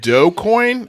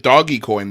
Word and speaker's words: Dogecoin: jazz shaw's in the comments he says it's pronounced doe coin i've been calling it doggy coin this whole time i told you i told you i told you the other day jazz it's dogecoin you're like no it's doggy coin i'm like